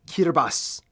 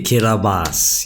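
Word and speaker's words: Kiribati: this but it's funas it's pronounced kbass for some real reason the ti makes an S sound y'all can go die bro what okay kabas yeah fine yeah I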